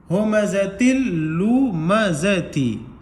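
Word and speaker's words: هُمَزَةٍ لُّمَزَةٍ: تا کو لام میں دو زیر, تی کو लाम में मिलाएंगे तो तिन नहीं पढ़ेंगे, तिल पढ़ेंगे, तिल। हुमज़तिल लुमज़ती।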